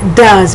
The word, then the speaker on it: does: do he she it does but let me spell does for you d-o-e-s it's not do as it's does it's spelled it's pronounced d-a-z but it's spelled d-o-e-s the past tense is